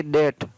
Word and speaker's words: debt: DEBT, तो इसको पढ़ेंगे डेट, डेट का मतलब होता है ऋण, DEBT। तो ऐसा नहीं कि DET बोले आप डेट में।